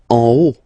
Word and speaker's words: en haut: En haut, en haut. Okay, final T not pronounced, and then this H as previously, you don't pronounce it, so this is O.